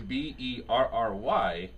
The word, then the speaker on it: Berry: So Nicole Berry is Berry. David Berry is Barrie.